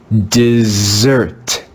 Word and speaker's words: dessert: rose rose in this word we see a double s again but here this is read with the voiced s sound z let's read this word together desert dessert dessert the fourth sound made